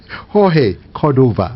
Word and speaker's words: Jorge Cordova: I want to thank you very much, George Cordova. I know that I have to call it in the Spanish pronunciation, right? Jorge Cordova.